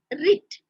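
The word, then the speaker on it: writs: rich w-r-i-t-s it is pronounced ribs the blue is silent here now rit what is this wit a lip can be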